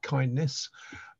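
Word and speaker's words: KINDNS: answers the first question those of us aren't sure how to pronounce it cin dns is intended to be pronounced uh kindness um and uh we're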